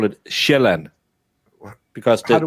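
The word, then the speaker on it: Sjælland: I'm saying sealand. That's how in Denmark we don't call it that. We call it shellan because the j makes a j sound.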